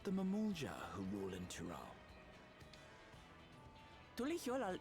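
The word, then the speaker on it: Mamool Ja: Es Mamulja. Because at the same time, the J, it's, it would be pronounced like an H.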